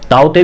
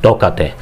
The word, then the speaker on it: Tauktae: तो इसमें क्या है, कई के या कई टी साइलेंट रखते हैं, तो ये ताऊते भी हो जाता है, तोकते भी हो जाता है। म्यांमार ने ये नाम दिया है तोकते।